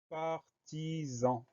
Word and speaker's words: partisan: Première syllabe, par, P-A-R. Deuxième syllabe, ti, T-I. Troisième syllabe, zan, S-A-N. Le son Z, on l'obtient grâce à un S, puisqu'il est entouré de deux voyelles. Et le son AN de partisan s'écrit bien A-N.